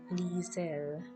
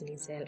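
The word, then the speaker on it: Liesel: just confirmed that guys lisa i think it's lizelle i don't know how to pronounce it the spelling is l i e s e l she's a nine-year-old girl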